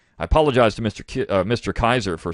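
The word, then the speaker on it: Kizer: kaiser's name and i mispronounce it i pronoun mispronounce it kisser and i don't know what i was thinking but it's gene kaiser and we have another book review in a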